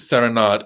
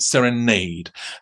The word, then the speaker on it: Serenade: Well, as you know, the Balanchine world does pronounce it Serenade, and the Balanchine world is wrong, because the Balanchine himself, from at least the 1950s, was calling it Serenade.